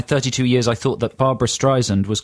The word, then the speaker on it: Streisand: For most of my 32 years, I thought that Barbra Streisand was called Barbra Streisland with an L.